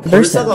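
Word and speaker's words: Versa: 원래 발음은 벌사가 맞긴 하지만 이 베르사가 좀 더 어감이 좋아서 이렇게들 부르고 있다고 봅니다.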